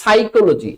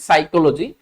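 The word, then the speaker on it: psychology: যেমন সাইকোলজি। এই যে আমরা স্ক্রিনে যে শব্দটা দেখতে পাচ্ছি সাইকোলজি। মনে রাখব আমরা সাইক শব্দটা যেখানেই থাকবে সেখানেই কিন্তু পিটা সাইলেন্ট হয়ে যাচ্ছে।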